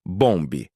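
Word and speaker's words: Bombe: Pronuncia-se bomb.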